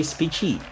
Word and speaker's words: Speechy: So let's all welcome Speechy. Rhymes with Beachy.